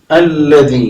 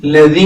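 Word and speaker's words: الذي: അല്ലതി അവിടെ അല്ലിയില് അല്ലിയില് അലിഫിന് മുകളിൽ ഹംസത്തുൽ വസലിന്റെ ചിഹ്നമാണ് ഉണ്ടാവുക അപ്പൊ ഇവിടെ നമ്മൾ ആ എന്ന് തന്നെ വായിക്കേണ്ടതുണ്ട് അല്ലതി എന്ന് തന്നെയാണ് ലതി എന്ന് വായിച്ചാൽ പോരാ അല്ലതി എന്ന് തന്നെ പ്രത്യേകമായിട്ട് വായിക്കണം അതേ ചേർത്ത് ഓതുകയാണെങ്കിൽ മുമ്പിലത്തെ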